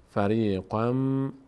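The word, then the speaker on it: فريقًا منهم: تبدیل به میم می‌کنیم به جای این تنوین مم تلفظ می‌کنیم میگیم فری قم فری قم من هم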